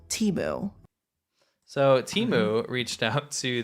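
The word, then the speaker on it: Temu: You know, I love Teu. Timu. Sorry. Well, they say Teu. It's Yeah, it's just Okay. Their press releases say pronounce it as Teeu.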